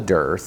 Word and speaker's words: dearth: the time of year that it's called a Dar it almost sounds like death uh and it's spelled d a t h that just means